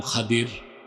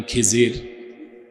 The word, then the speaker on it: খাদির: নেককার বান্দা তার নাম খাদির যারে আরে আপনারা বলেন খিজির উচ্চারণটা কিরফাতল খদির আমাদের দেশের লোক বলে কি খিজির এটা ভুল উচ্চারণ শুদ্ধ উচ্চারণ কির মুসা